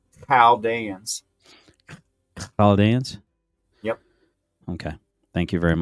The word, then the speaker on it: Chaldeans: And if that was a question, it's Chaldeans.